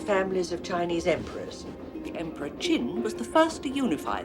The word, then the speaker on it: Qin: It is pronounced Qin.